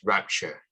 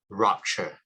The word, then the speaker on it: rapture: So I would prefer to pronounce it as rapture compared to rupture, which I would think rupture refers to R-U-P-T-U-R-E.